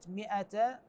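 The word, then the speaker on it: مائة: فاماته الله 100 عام كلمه مئ تلاحظون مكتوبه الف وفوقها صفر مستدير دائره صغيره هذه العلامه دائما تظهر على الالف والواو والياء ما تظهر على حروف فقط على ذن الحروف الثلاثه فاذا راينا هاي العلامه موجوده وظاهره على ذن الحروف الثلاثه معناته هذن الحروف لا تلفظ ابدا يعني كانما غير موجوده ما نقراها فانت قالنا في هذه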